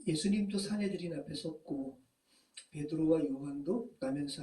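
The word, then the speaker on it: 산헤드린: 이 수네드리온을 우리 개역개정은 사내들인이라고 발음한 거예요. 자, 예수님도 사내들인 앞에 섰고 베드로와 요한도 나면서 앉은 뱅이 된 자를 고친 그걸로 말미암아 사내들인 앞에 섰죠.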